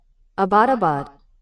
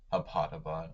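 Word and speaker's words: Abbottabad: which had had to be abandoned at Avidbad. Oh, dude. How do I pronounce that? I heard of this before. Abadabad. Abadabad. Okay. Abandoned Abadabad during the bin Laden strike.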